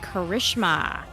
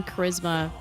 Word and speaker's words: Charisma: Outlaws uh Trish said Oh I thought it was pronounced like Karishma uh I don't know my mom decided on Charisma it doesn't matter to